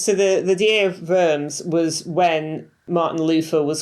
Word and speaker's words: Worms: this, the Diet of Worms. So, Worms, which is spelled like worms in English, but it's clearly Worms, is I think it's